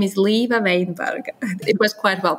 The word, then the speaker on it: Līva Veinberga: to be here and yes my name is leva weinberg it was quite well pronounced no problems with that thank you and